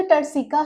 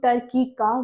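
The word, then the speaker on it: turcica: अब ये जो टर्सिका है, इससे कुछ लोग टर्किका भी बोलते हैं और कुछ लोग टर्सिका भी बोलते हैं, तो ये दोनों ही प्रोनाउंसिएशन करेक्ट है, ऑफ स्फिनोइड बोन।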